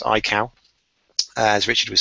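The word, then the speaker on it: Aikau: first of all as we've been saying it's pronounced iow as Richard was saying it's named after a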